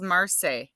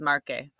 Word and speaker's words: marque: If I said that, that spells marse. Marcar has a k, it has a hard C sound. So that's why we have to change the spellings on these ones so that now this one says marque.